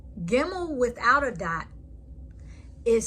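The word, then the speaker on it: גימל: It's called without a dot, pronounced like a V, as in victory. Gimel. Gimel without a dot is sound as a G and giraffe.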